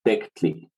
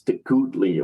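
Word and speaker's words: tecuhtli: But really, since there's no U vowel in colonial Nawatl, that U represents just lip rounding on the K. So it would be pronounced as something like Tecutli, but probably more likely as Tectli. That's how I've heard that word pronounced by native speakers, for example.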